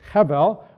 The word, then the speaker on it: hebel: word is able so think it's hebel but in english we would pronounce abel so that son of